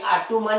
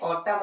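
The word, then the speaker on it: autumn: कब होता है तो इसे हम लोग ऐसा नहीं बोलते आर तू मैन या कालू मैन क्या पढ़ते हैं ऑटम और कॉलम क्योंकि एम के बाद जो एन है वो साइलेंट है ये उसके बाद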